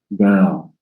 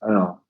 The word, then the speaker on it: girl: Anyway, uh but don't don't move your lips. Everything is in your tongue. girl.